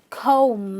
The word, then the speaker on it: comb: next word com now please remember the B is silent it's not com it's comb M you stop with